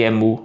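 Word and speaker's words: ἐμοῦ: A a a pronúncia de emu, porque o acento tá aqui.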